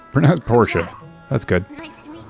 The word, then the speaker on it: Portia: So everyone is confirming to me that it is in fact pronounced Portia.